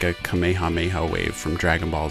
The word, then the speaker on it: Kamehameha: i've also learned that there's actually some debate over the correct way to pronounce kamehameha the english dubs have done it differently over the years some have pronounced it as kamehameha or kamehameha and others have said kamehameha apparently that is the more correct way to say it i'm sure i'm going